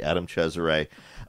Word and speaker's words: Cesare: Adam Cesare, you may know him as Adam Caesar, but I'm going to pronounce his name correctly. Adam Cesare, John Bowden, and Patrick Lacey.